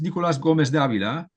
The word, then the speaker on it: Nicolás Gómez Dávila: Um well of course it's it's Nicolas Gomez Davila and Nicolas being his first name his given